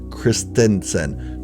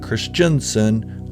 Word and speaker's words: Christensen: Hayden Christensen returned, and it is pronounced Christensen, not Christiansen, like some are mispronouncing it.